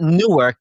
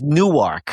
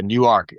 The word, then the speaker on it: Newark: It's not Newark. It's Newark. Yeah, Newark. Like the logo that I have for the film festival, where I split it into halves, like New Arc.